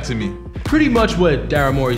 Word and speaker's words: Daryl Morey: Daryl Morey, that's how you pronounce his name? Daryl Morey, yes, correct.